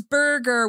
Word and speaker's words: Birger: No, this is burger with an I.